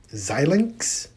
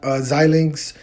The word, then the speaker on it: Xilinx: stock is ticker symbol x l in x xilinx i believe that's how you pronounce it xilinx um ticker symbol xlnx xilinx